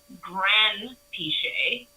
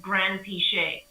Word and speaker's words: Granpeesheh: So when I grew up in England, we just started with Granpeesheh, and that's how you pronounce it, Granpeesheh, and like no emphasis on any part of it.